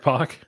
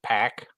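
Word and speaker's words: Pak: name correctly who Greg Park Mr Fox yes yeah I cringe when I hear all those people pronounce it pack pack Greg pack Greg pack it's like uh no it's not but okay I have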